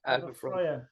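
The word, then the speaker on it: Alba Fyre: Alba Fry, is it? Yeah, that's it. Alba Fry.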